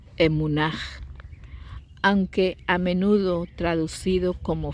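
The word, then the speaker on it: אמונה: En hebreo se pronuncia emunaj, aunque a menudo traducido como fe, implica una certeza profunda, lealtad, confianza, absoluta, firme, seguro, fidelidad, estabilidad.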